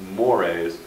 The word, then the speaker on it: mores: wide interpretation sometimes we hear another term called mores looks like it's just pronounced or it looks like a spell going to turn the word more but he is pronounced mores these are values which are sometimes considered very